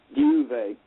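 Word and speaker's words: Diuvei: that's and um i have a equally unpronounceable craft name which is a magical name duvet which is d-i-u-v-e-i and uh that's um i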